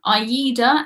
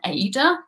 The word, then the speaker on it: AIDA: They are the German TUI, Fred Olsen, AIDA, and which other? I have to say, I've always pronounced that one AIDA, but then everyone told me it was AIDA.